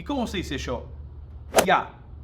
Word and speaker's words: Я: el yo ya que se pronuncia ya como si fuese yo qué pasa en Argentina